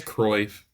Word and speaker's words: Cruyff: a real quote, but it was is it Cruyff, the guy that Pep, the great player, is it Cruyff? I can forget his name. I think it was It's Cruyff. Cruyff. Cruyff is how Cruyff? you pronounce Yeah, it.